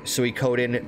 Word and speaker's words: Suikoden: think it's actually pronounced Suikoden because the OU and you know the Japanese language their vowels are always long vowels there there's always like